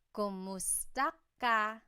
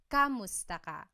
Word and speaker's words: kumusta ka: Kumusta ka? So it's spelled K-U-M, kumusta ka. But sometimes you might hear some people say kamusta ka, like it's a K-A sound.